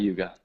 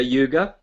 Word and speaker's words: Yuga: second AG is dapar Yuga I'll write that down and that is the um Bronze Age and so um Satya Yuga or yug it's actually it's actually pronounced yug um and then yeah